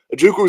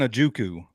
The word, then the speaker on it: Ojukwu: Maybe he just can't pronounce that W for whatever reason. And to be fair, Mike Keith is the last person on the planet that I want to start podcast beef with. I love Mike Keith. Could he be the one pronouncing it right, and we're all pronouncing it wrong? It's a silent W.